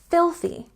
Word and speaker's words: filthy: tricky on this one we have a stress on the first syllable and we have th don't forget with th to put your tongue between your teeth I think my students